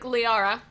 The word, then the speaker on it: Liara: And Zoan said, Nicole, you look so much like La... Spelled Liara. Thank you. You look so much like Liara. That's the new pronunciation.